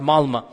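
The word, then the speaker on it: Malmö: And in Stockholm, if you have 10% Muslim, I was in the city of Malma. Malma is it's spelled with an O but is pronounced Malma.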